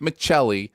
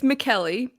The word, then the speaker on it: McKelly: your last name and went with michelle please tell me i was at least close it's mckelly i knew it i